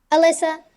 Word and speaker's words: Elisa: and Tik Tok at alyssa. my mother did me dirty my name is spelled e l i s a even though it's pronounced Alyssa like a l y SSA so you know um